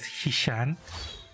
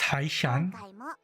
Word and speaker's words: Haishan: I keep wanting to pronounce it as Hishan, but it's Haishan.